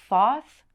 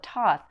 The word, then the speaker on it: Thoth: some people call it thoth some people call it toth it is kind of